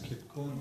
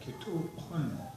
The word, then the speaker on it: Kitukun: People pronounce it as Kitkun, but Kitukun is the butt of the spear.